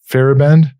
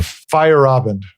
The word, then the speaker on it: Feyerabend: uh name pronounced correctly i said fairband it's fire fight or fire robin sorry about that fire obviously yeah fire up yeah you gotta remember that a in the in the middle of it so he